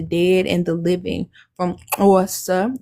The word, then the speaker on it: Xhosa: From Xhosa, the self-distinguished name of the people pronounced with a soft click, and the click consonant is represented in writing by the X in the Latinized orthography of Isis Xhosa.